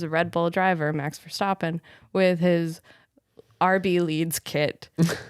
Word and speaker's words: Verstappen: Verstappen. Sorry. How dare you? Sorry. With an orange shirt on, At least I don't say it like the British people. What do they say? Verstappen.